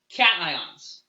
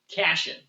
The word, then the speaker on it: cation: here we call them cations again we want to kind of keep this ion word intact so the way it's spelled it kind of looks like caching but we're going with cation if you are trying